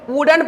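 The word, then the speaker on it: wooden: लेकिन आप यहां पे देखेंगे कि हम लोग जो प्रोनाउंसिएशन करते हैं W double O डी ई एन इसको बताइए वुडेन पढ़ना सही होगा या वुडेन पढ़ना सही होगा?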